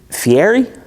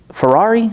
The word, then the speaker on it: Fieri: Guy, is it Fieri? Fieri? Ferrari? Fiery? It's actually pronounced Guy Fieri, as ERI in Italian is pronounced like the word Eddie.